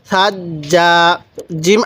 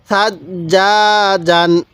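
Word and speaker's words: ثجاجا: সাজ্জা ছাটা নরম করে সাজ্জা জিম আলিফ দুই জবর জান সাজ্জাজ সাজ্জাজ জিমের মধ্যে কিন্তু দুইবার উচ্চারণ হওয়ার পরেও সেটাকে এক আলিফ টান দিতে হবে কিভাবে সাজ্জাজ কারণ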